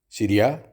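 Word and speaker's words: سوريا: फिर अगर आप कहना चाहते हैं रोज़ा इज़ फ्रॉम सीरिया, सीरिया यानी शाम, तो आप कहेंगे रोज़ा मिन सूरिया. रोज़ा मिन सूरिया, सीरिया को अरबी में सूरिया कहा जाता है.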